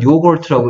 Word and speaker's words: yogurt: 그래서 우리는 이거를 이게 일본 사람들이 이렇게 읽는 거예요. 일본 사람들이 요구르트 이렇게 읽는 거예요. 일본 사람들이. 우리는 요걸트라고 읽을 수 있는데. 그래서 이거 영어로는 요걸, 유가 내는 세 가지 소리. 유가 짧은 막대기 소리인데요. 유가 내는 세 가지 소리. 유, 우, 어 중에 어 된 거예요.